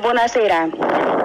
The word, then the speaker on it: buonasera: Se dice buonasera.